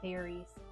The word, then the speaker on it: Faerie: I'm sure this book is meant to say fairies. Fairies. The way it's spelled is Faerie. And in my mind, I used to teach kindergarten, first or second grade. In my mind, I'm like, AE says A.